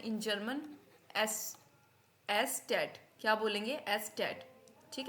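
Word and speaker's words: Eszett: लेकिन इसको हम क्या बोलते हैं in German S एस टेट क्या बोलेंगे एस टेट ठीक है एट ठीक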